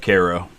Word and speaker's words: Cairo: to give up cairo the cairo not cairo it's cairo that's how it's pronounced man mcbride's only lost